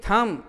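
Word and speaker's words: thumb: एल एम ई लैम, इन लैम्ब, टी एच यू एम बी थम, इन थम्ब। बॉ का उच्चारण यहाँ साइलेंट हो जाए एम के बाद बी आए तो।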